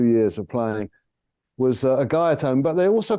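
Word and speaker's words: Guyatone: I don't want to mispronounce the name, but I want to say Gaiatone.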